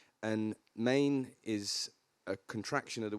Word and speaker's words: Men: little bit about yeah so it's it's called main so spelled men but pronounced good camera I've got that camera it's pronounced main um M A NE e but spell me n and Maine is a contraction of the word menia which